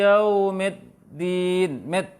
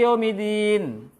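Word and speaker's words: يَوْمِ الدِّينِ: Kesalahan pertama adalah tidak jelasnya tasdid dal. Tidak jelasnya tasdid dal. Maksudnya apa? Hak tasdid itu tidak jelas. Maliki apalagi cepat. Maliki yaumidin. Midin salah.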